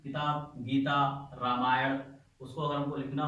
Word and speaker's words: रामायण: इसी तरह द रामायण, याद रखिएगा रामायण लिखते वक्त स्पेलिंग में हमें एक ए और बढ़ाते हैं, रामायणा लिखा जाता है, लेकिन इसका प्रोनाउंसिएशन रामायण क्या होता है।